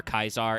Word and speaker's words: Caesar: to correctly pronounce Latin with the C is hard for Kaisar and the V is actually a W in awe.